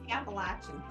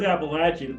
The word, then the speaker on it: Appalachian: things on that so how do you say it Appalachian she says Appalachian I say Appalachian okay and so that's